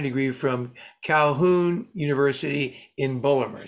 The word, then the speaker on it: Baltimore: from calhoun university in baltimore say it right bulmer he would then go